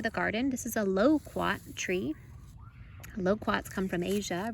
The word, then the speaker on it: loquat: garden this is a loquat tree loquats come from asia originally and they make a delicious fruit it kind of sounds like the word komo quat but it's low quack so we're gonna plant